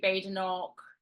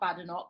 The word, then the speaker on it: Badenoch: a known figure, Kemi Badenoch, whose name I learnt this week is not Badenoch, because there's no bad in her name, as she says. Badenoch.